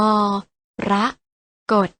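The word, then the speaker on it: มรกต: ไพร สะ สะ นี มรกร ออก เสียง ว่า มอ พระ กด พร้อม กัน นะ คะ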